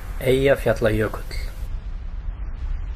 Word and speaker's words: Eyjafjallajökull: Can you pronounce that volcano? Eyjafjallajökull.